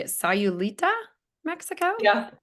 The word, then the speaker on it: Sayulita: They own a home in, how do you say it, Sayulita, Mexico? Yeah, Sayulita, yeah.